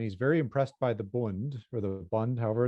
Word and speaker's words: Bund: I shouldn't pronounce it as Bund. I probably should say Bund.